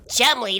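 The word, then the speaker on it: Cholmondeley: Chumley, that's not what it says on the screen. Yeah, I know, that's how he pronounced his name.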